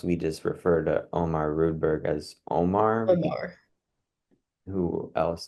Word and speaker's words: Rudberg: wrong for so long it's not redberg it's rudberg are you a real